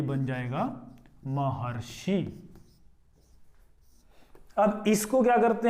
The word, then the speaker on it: महर्षि: महर्षि बोलेंगे इसको, इसका जो उच्चारण करेंगे हम महर्षि करेंगे, ना कि महर्षि करेंगे, ठीक है।